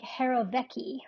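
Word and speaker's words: jirovecii: the world but um I heard it pronounced it was like Harrow Vecci or something like that just remember it starts with a j-i-r anyway this is a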